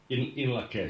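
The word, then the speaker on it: In Lak'ech: In Lakesh.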